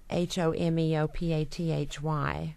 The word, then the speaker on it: homeopathy: of them not about music yeah but about h o m e o p a t h y m how do you say that I don't